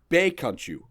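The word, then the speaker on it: 比卡超: Traditionally, Pikachu has been pronounced with the Cantonese Baekanchu.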